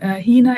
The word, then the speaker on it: Hena: And before um yeah, before we start, I wanted to double check what your name Hina is correct pronunciation, isn't it?